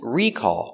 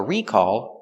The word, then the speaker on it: recall: sometimes recall sometimes recall the noun is recall with the stress on the first syllable and it's countable so